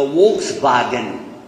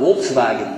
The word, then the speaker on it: Volkswagen: Yeah, well, in Germany is where they make the Volkswagen. That's what they call it, Volkswagen. We pronounce it Volkswagen. It's a reversal of the letters.